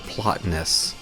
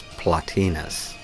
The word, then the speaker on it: Plotinus: I used to pronounce it Plotinus until I heard Terence McKenna pronounce it as Plotinus.